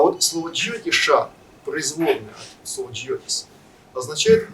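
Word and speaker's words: ज्योतिष: Итак, слово джиотиша на санскрите, это произносится так, джиотиша, образовано от слова джиотис.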